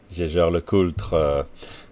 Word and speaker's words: Jaeger-LeCoultre: Jaeger-LeCoultre, that's how you pronounce it.